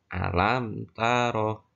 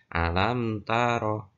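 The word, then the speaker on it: ألم تر: Dan cara membacanya mim itu harus jelas. alam taro. Ya, alam taro. Mimnya harus dibaca dengan jelas.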